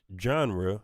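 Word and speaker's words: Zhanre: genre genre that's z-h-a-n-r-e pronounced genre yeah with a zh genre yes get that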